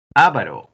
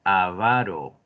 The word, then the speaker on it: avaro: Y la pronunciación es de acento grave, o sea, aquí en la segunda. No es avaro, es avaro.